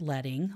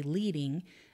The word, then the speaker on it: leading: lines of text so it's pronounced leading like sledding and the name actually